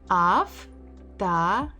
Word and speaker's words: автомат: Автомат. Автомат, автомат, автомат. So we stress mat. So this o has to be read as a.